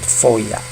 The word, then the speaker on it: FOIA: In short, FOIA, and many people just pronounce it FOIA because it is FOIA.